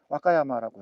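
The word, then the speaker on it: 和歌山: 화가 그 화할 화자에다가 노래가자를 쓴 게 화가인데 그거를 오카야마라고 합니다. 오카야마는 강자고 강본이 오카야마고 화가는 와카야마라고 해요. 발음이 헷갈리죠?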